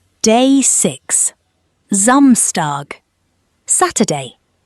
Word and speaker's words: Samstag: Day six, Zamstag, Saturday. Pronounced Zamstar.